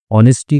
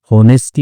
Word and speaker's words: honesty: ऑनेस्टी का मतलब ईमानदारी होता है। ठीक है? इसमें एच साइलेंट होता है। इसलिए इसको ऑनेस्टी पढ़ते हैं। ओ ओ का साउंड रहेगा। होनेस्टी नहीं पढ़ेंगे।